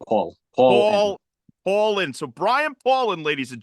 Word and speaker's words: Paulin: do you do it Paulin exactly the way it looks Paul Paul Paul Paulin so Brian pauland ladies